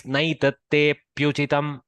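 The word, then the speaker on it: नैतत्तेऽप्युचितम्: But if for vrutta it is nice, naitatte pyuchitam. So there is no akara pronunciation, so one matra is saved.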